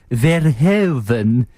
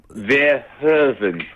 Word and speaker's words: Verhoeven: You have not pronounced the Verhoeven. Sorry, Verhoeven. But maybe you know better than us. Maybe it is Verhoeven. What did you say? Anthony, you said like Paul Verhoeven.